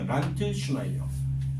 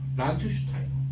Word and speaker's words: 란트슈타이너: 란트슈나이어. 다시 란트슈타이어. 란트슈타이너. 이게 영어식 발음하고 이제 예전에 나왔던 그런 용어하고 약간 다르거든. 실제로 조금 차이가 나요.